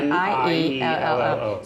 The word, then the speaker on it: Manganiello: Manganiello.